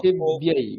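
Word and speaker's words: পৃথিব্যৈ: প্রি নয়, প্রি নয়, প্রু। Sorry, নমঃ পৃথিব্यै। হ্যাঁ, নমঃ পৃথিবৈ নমঃ পৃথিব্यै, ব্যৈ। ঠিক আছে, পৃথিব্यै।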